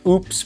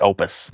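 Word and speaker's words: OUPES: We thought we had the answer when we found the Oops products. Oh, it's pronounced Opus.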